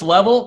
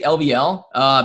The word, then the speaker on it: LVL: It's level, but you can say LVL.